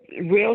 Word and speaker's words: Rill: channel is real seductive real spelled like my name which is r i l l seductive right just real